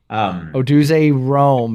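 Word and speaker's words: Rome Odunze: Rome, how do you pronounce this? Odaisy? Oduze Rome.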